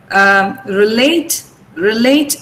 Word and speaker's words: relate: Now here, relate is a verb. So we have stressed the second syllable here.